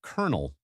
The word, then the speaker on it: colonel: Who decided that colonel should be pronounced kernel?